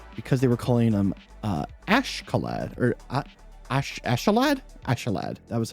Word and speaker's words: Askeladd: Like, if you were actually like, that is the actual Scandinavian way of pronouncing that name, which that's kind of, it's always interesting to learn that stuff.